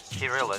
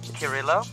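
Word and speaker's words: Kirylo: And then can you help me pronounce his name? Kirilla. So that's actually the Ukrainian way of writing it. I don't know what... Anyway, Kirilla. Kirilla Sidorovich Razumov. Okay. Sorry. How would... Kirillo. Okay, Kirillo.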